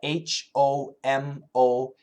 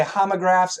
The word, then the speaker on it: homographs: I'll spell it H-O-M-O-G-R-A-P-H-S. Homo. People will say homographs and people say homographs. You'll hear both pronunciations.